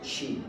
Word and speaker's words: qi: c sound okay so when you see Qi it's still pronounced Chi okay and the same